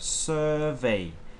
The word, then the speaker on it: survey: word okay so first we have survey survey this is the stress okay and this is